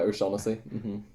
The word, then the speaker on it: O'Shaughnessy: Ryan O'Shaughnessy, I think you pronounce it. Yeah, O'Shaughnessy.